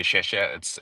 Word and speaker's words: Hsieh: Hsieh? It's pronounced Hsieh. Like in Mandarin, when you say Hsieh, it's the same character.